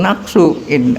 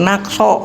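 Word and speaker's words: نقصًا: Waliman sabaqahun naqsu, waliman sabaqahun naqso, gitu bacanya.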